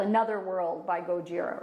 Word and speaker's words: Gojira: And Gojira, of course.